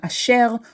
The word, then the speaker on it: Asher: formerly pronounced in Hebrew formally we stress the last syllable in the word a shell but very commonly we stress the second to last syllable so whether you pronounce your name a shell or ashel it is